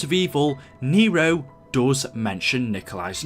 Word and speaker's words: Nikola: think he's referring to nikola tesla now actually his name is nikola I mean some people pronounce it Nikolai but Nikolai or Nikola